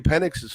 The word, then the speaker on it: Penix: And again, and that may not be Penix's fault. There, I pronounced it correctly.